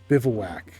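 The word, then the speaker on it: bivouac: bivaak and that is how you say that bivaak it is a uh military encampment but land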